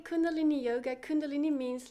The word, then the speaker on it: Kundalini: Kundalini. Yeah, you say it. Kundalini yoga. What is that compared to other yoga that we might know from, like, YouTube yoga videos? They say Kundalini Yoga. Kundalini means like the live energy.